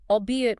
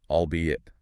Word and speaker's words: albeit: While it looks like two separate words fused together, it's pronounced as a quick two-cllable unit. Albeit.